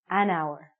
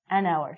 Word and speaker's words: hour: we're saying our so because this word our sounds like a vowel because the H is silent we have to say an hour okay you got it you with me an hour so and we use